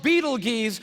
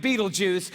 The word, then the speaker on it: Betelgeuse: It's called Betelgeuse or Betelgeuse. You can pick your pronunciation. I'm obviously going with Betelgeuse, and Betelgeuse is incredible.